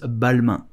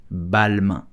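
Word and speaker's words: Balmain: so how do you pronounce balma you will simply say balma balma balma I hope you enjoyed this video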